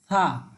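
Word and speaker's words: ث: সামনের জিহ্বার আগাল দুই দাঁতের আগার সাথে লাগিয়ে একেবারে থা। ঠিক আছে। এই থা আপনাকে উচ্চারণ করতে হবে। থা যেভাবে আমরা বাংলা থ উচ্চারণ করে থাকি, সেভাবে থা উচ্চারিত হবে।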